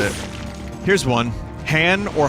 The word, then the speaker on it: Han: it was always Han, but I knew someone that pronounced it Han because that's how Lando said it.